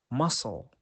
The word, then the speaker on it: muscle: example that doubt next the letter c is usually silent when it comes after the letter s for example muscle science now the letter